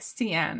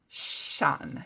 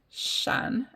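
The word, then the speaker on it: Sian: I believe it's pronounced Shan Shan um she told me that it's similar to Sha but it's not sha so I think it's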